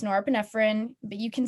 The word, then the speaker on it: norepinephrine: which is your fight or flight it's not pronounced norapinephrine it's not pronounced nor fenifeni it's norepinephrine but you can say monorafinifena if you want